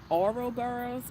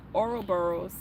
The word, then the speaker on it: Ouroboros: Um Ouroboros, o u r o b o r o s.